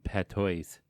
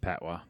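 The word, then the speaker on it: patois: i s it's Jamaican Pat toys but that's it's not Pat toys it's like oh yeah it's pronounced pwa yeah pwa okay I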